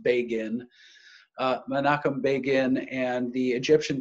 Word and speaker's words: Begin: his name is Menachem Begin is the way that name is it looks like begin his name is actually pronounced Bagan Menachem Begin and the